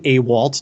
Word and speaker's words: Awalt: detailing sure um yeah it's a waltz don't worry everybody pronounces it wrong at one point or another my last value its